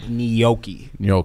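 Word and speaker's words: gnocchi: how to pronounce it that g throws me off it's like nooki you saying it correct but I've always called it Noki until recently I always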